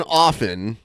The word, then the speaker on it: often: It does say tra the t in often often is traditionally silent pronounced often but pronouncing it